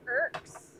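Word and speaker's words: øks: Norwegian for axe is oaks, and the O is pronounced as an EA, as in early. Okay, so irks.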